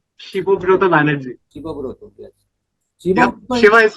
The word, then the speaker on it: Shibabrata: yep, and I am pronounced Shibobroto. Shibobroto Banerjee. SHIBABRATA.